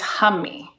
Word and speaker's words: Humee: the first um part of this Mantra is Hummy so if we say hum like ha and